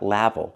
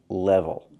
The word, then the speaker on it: level: I cannot pronounce the word level. It's not level. We cannot use the A sound like black cat. We need to use the E sound like red and 10. It's more closed.